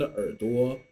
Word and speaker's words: 耳朵: bit of attention that in this word 儿子 and 耳朵, the second syllable, okay, or the second character should be read as a neutral tone. Okay, there's no tone mark above it, so try to be a little bit lighter. 儿子耳朵.